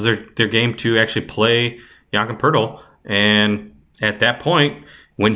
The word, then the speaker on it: Jakob Poeltl: Yes, you pronounce it. Yamka Pirtle? Yep, Jakob Poeltl.